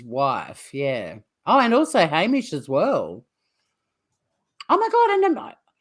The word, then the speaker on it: Hamish: that Americans might know about so no it's pronounced Hamish because my godson in America his mum's Aussie